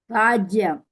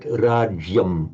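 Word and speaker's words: राज्यम्: riddham rajyam. Okay, but in this one, the j has got to be pronounced almost as one unit. Rajyam, rajyam.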